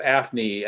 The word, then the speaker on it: AFNI: it something better and i like programs acronyms that are pronounceable so i came up with aphny analysis of functional neural images but just simply because it's